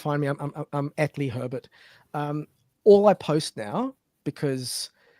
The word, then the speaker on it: Herbet: It's Lee Herbet, not Herbert. I'm so sorry.